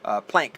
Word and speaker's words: Planck: 2 and the plank is it plank or plonk i think it's plank plank is how they pronounce it p-l-a-n-c-k that's the